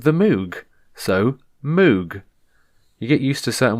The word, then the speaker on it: Moog: said the word moog m-o-o-g now i've always pronounced it moog because it's got two o's a g so you get oog and then you've got the m at the beginning you've got moog you